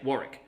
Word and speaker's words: Warwick: About how because we say Warwick, but to the British it'd be Warwick.